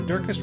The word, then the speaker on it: Durkis: Michelle Andrew, Josina, Sarah Durkis, Rhymes with Circus, Kelly Cameron, Wayne Pedersen,